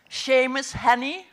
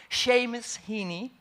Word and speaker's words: Seamus Heaney: see miss heeney and i hope i pronounce his name well really do i seamus honey hini seamus heaney thank god we have